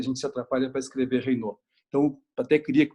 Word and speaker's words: Raynaud: Raynaud se escreve com R-A-Y-N-A-U-D. Raynaud, não é Reynolds, não é Richards, não é Reinaldo, mas é Raynaud.